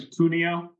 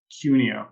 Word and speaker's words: Cuneo: your last name yeah last name is puno oh actually it actually depends on who you ask in my family my my mom pronounces it cunio so okay thank you